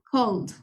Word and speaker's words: called: y el pasado sería called aquí solo se pronuncia la d no es es Cold